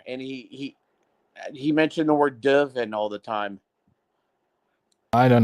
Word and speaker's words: dürfen: So dürfen. But that's the U with the 2 points, so that's not U, that's U. Dürfen.